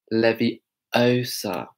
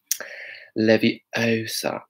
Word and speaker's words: Leviosa: So Leviosa, you're pronouncing it wrong. Going. So do you see how we're making that same mouth shape? Leviosa.